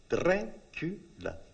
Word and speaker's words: Dracula: The sound is so intriguing. 3 syllables. Dracula.